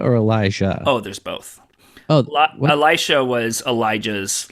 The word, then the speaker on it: Elisha: megan versus amigan where it's spelt the same but it's just said differently oh no it's one's an sh and one's a j oh like elisha elisha and elijah yeah